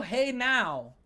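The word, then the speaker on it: Genao: Angel Hey Now.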